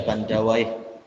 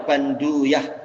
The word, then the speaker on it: Bandawaih: Ada darah Persia ya, Bandawaih. Kalau orang India memanggilnya apa? Para ulama India Banduyah cara bacanya.